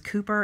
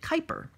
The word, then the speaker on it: Kuiper: And I thought it was Cooper, and then I saw it on Jeopardy, and he pronounced it Kuiper.